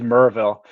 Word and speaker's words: Maryville: stuff and pjr says maryville tennessee is merville that makes sense a buddy of mine